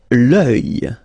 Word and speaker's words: œil: Okay, so it's quite strange because you get this LS at the end, but then, well, you don't pronounce them. Les sourcils. L'œil, strange combination of vowels here, okay, and then